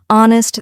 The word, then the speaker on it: honest: For example, in words like no, the K is silent, honest, the H is silent, and castle, the T is silent.